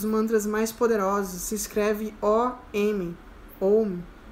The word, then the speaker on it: Om: Se escreve O-M.